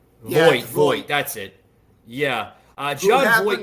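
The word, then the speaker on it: Voight: I want to plug in this one video here of John Vaught. Like I said, guys, bear with me. I'm terrible how to pronounce.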